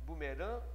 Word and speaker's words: bumerangue: Então esse AN, ó, tem o dígrafo vocálico, bumeran, e esse GU também é um dígrafo consonantal que é bumerangue. Bumerangue. Eu não pronuncio o que não, né? G. Então fica bumerangue.